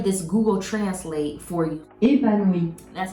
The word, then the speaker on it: Épanouie: Épanouie, That's how you say it. épanouie, One more time for the people in the back.